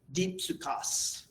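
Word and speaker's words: δίψυχος: Dipsukos. That's a psi. Dipsukos is the way it's pronounced.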